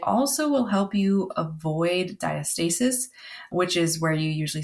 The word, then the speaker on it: diastasis: ever seen that before that's diastasis some people pronounce it diastasis so you know there's a couple different ways you may have heard it but that can be